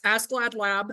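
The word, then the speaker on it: ASCLD/LAB: uh the two big ones there that that's ask glad lab and yes that is how that's pronounced um accreditation and ISO IEC accreditation now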